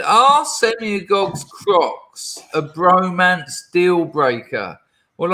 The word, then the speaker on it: Crocs: Crocs rhymes with flocks, as in flock of seagulls, haircut in the 80s, of which your shoes are the 2020s version of.